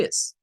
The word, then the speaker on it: is: corta del inglés y suena a una Z no a una s silvante no una s sino una es el sonido que debemos de buscar